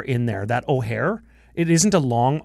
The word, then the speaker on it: Ojer: But Ojer, see, even that, Ojer. I rolled it like 2 or 3 times. Yeah. That's too much. Ojer. I can't flip an R very good, but that's what my